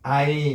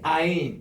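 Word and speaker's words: עין: 우리는 이 가인이라는 개념 때문에 그 발음을 안 합니다만은 그래서 이제 아인 이렇게 나옵니다.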